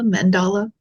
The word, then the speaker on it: mandala: a a mandala a mandala how do you pronounce that Mandela mandala okay um with all of these items on